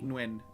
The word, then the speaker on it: Nguyen: If anyone has seen that surname, Okay. that's how that's pronounced.